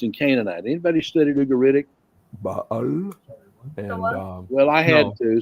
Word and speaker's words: Baal: Baal and well, I had to, so I had to learn all these funny-looking things.